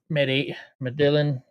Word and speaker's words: Medellin: Medellin went to Medellin, actually is how you say his name, went to his local VFW post for a fundraising dinner.